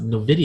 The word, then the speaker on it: Nvidia: I went to Google and they said that's how you pronounce it, Nvidia.